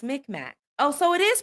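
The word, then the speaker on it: Mi'kmaq: Um, I am McMack.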